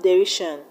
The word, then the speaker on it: derision: We have derision, admission, vision. In the word derision, we have the stress on RI.